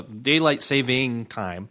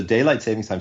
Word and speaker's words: daylight saving time: and all those anyway the daylight saving time is the right way to say it um how that affects this as well in an interesting way it does it does so daylight savings time so first of all